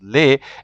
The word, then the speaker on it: les: male and female so l-e-s is pronounced lay l-e-s it's used both for male and female this is all different and also in front of vowels and you will just say lay so for example there's